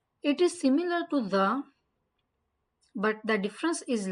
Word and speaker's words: ظ: Don't say it like za or zwa or zwa or whatever. And don't make your lips round for zwa.